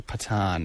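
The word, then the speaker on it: Pathan: The past is the English way of saying yes and the British way of saying it is probably more correctly pat which is spelled P A T H A N.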